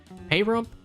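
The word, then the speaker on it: Pahrump: Payrump, I keep hearing people pronounce it Payrump, so that's what I'm gonna say, is a real city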